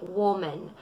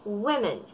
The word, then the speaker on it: women: Ang pagkakapronounce ng iba dito ay woman. Ang tamang pagkakabigas ay women.